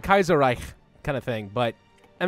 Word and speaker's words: Kaiserreich: Kaiser anka now been corrected on how I pronounce Kaiser right before I just say I just know with the American pronunciation Kaiser Reich I know it's like Kaiser Reich kind of thing but